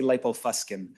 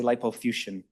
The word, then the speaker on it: lipofuscin: rubbed off on me, because I say lipofuscin, but Americans say lipofuscin.